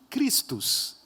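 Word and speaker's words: Chrestus: Se você vê em texto grego como que a palavra Crestus é escrita, ela é basicamente pronunciada como Christus.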